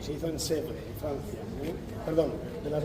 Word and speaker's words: Sèvres: Vamos a hablar también de Sèvres, Sèvres, en francés se pronuncia Sèvres.